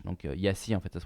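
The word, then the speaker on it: Iași: a quand même augmenté ensuite on passe à Yash donc Yassi en fait ça se prononce y hein je le prononce correctement euh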